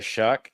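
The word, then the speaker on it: Shough: The New Orleans Saints did get Tyler Shuck. That's spelled with a GH for those of you who hate the American English language.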